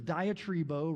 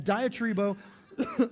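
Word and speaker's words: διατρίβω: The Greek word is diatribo, rhymes with Tim Tebow. Um diatribo and and I'm Anyways, moving on, moving on.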